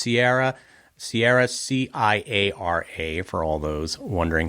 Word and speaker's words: Ciara: Well, it's Ciara, Ciara for all those wondering how you spell it.